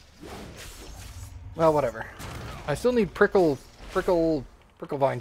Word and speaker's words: Prickle vine: I still need prickle vine juice. That's how you pronounce it, actually. Prickle vine. Just make it sound like you don't know what you're saying. It's real easy.